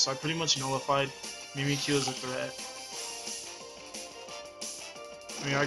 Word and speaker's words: Mimikyu: That's how you say it, Mimikyu.